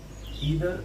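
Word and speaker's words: either: और इसमें कौन कौन से कंजंक्शन का हम यूज करते हैं, अल्टरनेटिव कंजंक्शन में आप ईदर और का यूज कर सकते हैं, या फिर नीदर नॉर का यूज कर सकते हैं।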